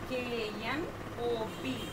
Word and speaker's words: knob: K-N-O-B, knob. K-N-O-B. Here, K is silent letter.